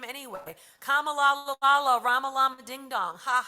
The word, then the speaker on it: Kamala: It's Kama like in a sentence, and la like la la la when you sing Kamala.